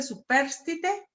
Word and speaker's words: superstite: Y la otra, cónyuge superstite, así se pronuncia, cónyuge, es el cónyuge, ¿verdad?